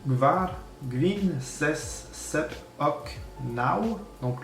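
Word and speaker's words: naŭ: Donc unu, du, tri, gvar, gwin, ses, sep, ok, nau. Donc le U avec un accent, il se prononce comme un W.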